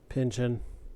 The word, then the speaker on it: Pynchon: Thomas Pynchon? Oh, Pynchon. yeah. Pinchin. Kind of rhymes with engine.